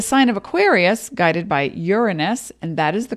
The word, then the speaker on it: Uranus: now in the sign of Aquarius guided by Uranus and that is the correct pronunciation represents technology higher thinking evolution breaking the